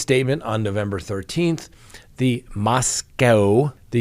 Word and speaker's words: Moscow: Now, in the latest statement on November 13th, the Moscow, not the Moscow Police Department, as people have been trying to tell me. So apparently it's Moscow, not Moscow. We pronounce it like we see it.